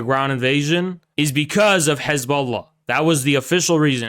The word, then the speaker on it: Hezbollah: Jews who are native to the region pronounce it as Hezbollah, okay?